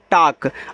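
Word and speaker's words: talk: टी ए एल के, इसको पढ़ते हैं टाक। अब देखो हमने डब्ल्यू ए एल के को वाक पढ़ा था, यल साइलेंट था, तो यहाँ भी तो ए एल के है, ये आपका टाक हो जाएगा, टाक ऐसे।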